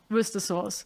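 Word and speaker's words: Worcestershire: said, "Why is there shire in it if you don't say the shire?"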